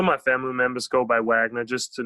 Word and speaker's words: Wagner: or vogner it's Wagner Wagner that's the correct German pronunciation right yes correct okay